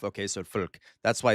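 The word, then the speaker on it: Volk: So, folk. That's why it's fagen. Okay. Folks vagen and then so this okay real fast in German like I said V's are pronounced like F and W's are pronounced like V's.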